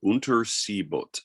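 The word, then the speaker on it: Unterseeboot: first place the the it's uh german for untersi boot uh which is for underwater boat um uh unter sibot uh is how you say it uh but then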